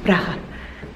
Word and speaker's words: Praha: Praha. I think you should say it like the Eastern European way. Praha.